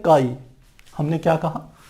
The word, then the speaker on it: chi: उससे प्रदर्शित करते हैं, जिसे हम कहते हैं काई, CHI, और उच्चारण इसका होता है काई।